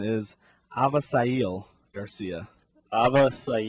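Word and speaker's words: Avisaíl: you did not get it right but the pronunciation is aail Garcia AA sounds a lot more uh exotic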